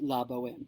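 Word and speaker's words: La Bohème: the La Boheme tickets, and they mispronounce it. And Dan Aykroyd stands there in his really smelly clothes and all this, and goes, "It's La Boheme.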